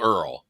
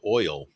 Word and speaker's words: oil: back with a little earl no i'd rather you you oh oil over here yeah it's it's a two-syllable word oil yeah because we we